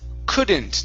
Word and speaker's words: couldn't: your last word is couldn't now here couple things the excuse me the L is silent so instead of saying Kant it's C and instead of saying C it's uh couldn't couldn't could couldn't there you go good